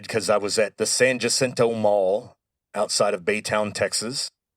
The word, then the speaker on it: San Jacinto: As soon as the Texians won the Battle of San Jacinto, Sam Houston declared that it would be pronounced San Jacinto from then forward.